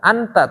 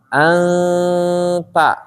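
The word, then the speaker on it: أنت: izhar ini tetap ikhfa jadi bacanya bukan Anta tapi ntar ane di tipis ya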